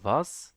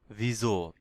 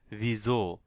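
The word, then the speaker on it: wieso: এখানে দেখেন ভিজো, ভিজো। দেখেন আমি এখানে কিন্তু ভিসো বলি নাই। এখানে এস এর উচ্চারণ, এস এর পরে যদি কোনো ভাওয়াল থাকে তাহলে এই এস এর উচ্চারণ এস না হয়ে ঝ হবে, ঝ উচ্চারণ হবে, লাইক ভিজো, ভিজো।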